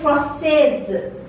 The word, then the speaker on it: française: In case of feminine, a French lady or a French woman, we say française. Till here we pronounce it and this E is silent.